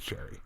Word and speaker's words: Cherie: I'm not sure which I knew a girl named sherry who spelled it the French race CH ER IE oh god she's pronounced as sherry it's so compute sherry